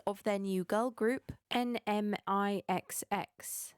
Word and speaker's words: NMIXX: their new girl group n-m-i-x-x and it's pronounced n-mix which you know okay